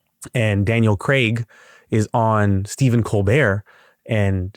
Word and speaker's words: Craig: They call him, in America, we call him Daniel Craig, like C-R-E-G, Craig. He's like, it's Craig. That's all.